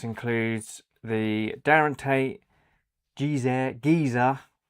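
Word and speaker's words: Gizeh: So, this includes the Darren Tate Gz Gizer. It's spelled G I Z E H.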